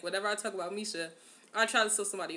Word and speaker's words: Misha: you have to say his name like that Misha let's say to get just so I can see this picture right here side note by Misha it's so funny because like whenever I talk about Misha I try to show somebody a picture like